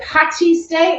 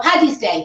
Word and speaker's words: Paddy's Day: Now, is it Patty's Day or Paddy's Day? Oh, no, Paddy. No, there's no Patty. No, there's no Patty. The Americans say that, don't they? Yeah. No, Paddy's Day.